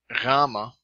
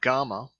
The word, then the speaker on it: gamma: B as in book gamma or gamma a G as in gut Delta D as in